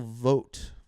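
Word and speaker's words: Vought: name is Russ Russell vote Voit vote vot I actually think is how it's pronounced v u ght and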